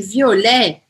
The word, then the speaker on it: violet: O O é aberto ou fechado? Violet, violet, violet, fechado. Violet, não é violet, é violet. Mas também não é violet, né? Não preciso forçar, porque a sílaba forte dessa palavra está no final, e não no O.